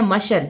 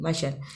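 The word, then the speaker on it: مشعل: आगे है मशल, मीम ज़बर शीन साकिन, आइन ज़बर लाम साकिन, मशल।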